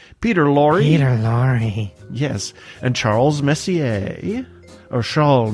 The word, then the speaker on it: Messier: And Charles Messier. Or Charles Messier, I should say. There's no S on the French name, right?